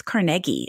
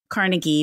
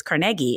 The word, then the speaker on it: Carnegie: the Carnegie libraries and they said oh it's Carnegie and I was like it is so I